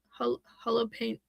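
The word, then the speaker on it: Holopainen: Thomas, it's Thomas or in Finland because he's from Finland. It's tumas harp and holo pain.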